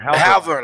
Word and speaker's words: Halvor: though atl uh yeah hal and then board have our lines okay okay okay how how long have